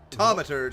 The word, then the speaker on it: Thaumaturge: a thge it might make for I so butcher the way I say it I'm like the thge Tom sorry tomur I got to say it right what a